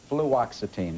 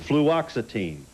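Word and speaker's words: fluoxetine: How do you pronounce this? Fluxitine. Fluoxitine. Fluoxitine is the pharmaceutical name for Prozac.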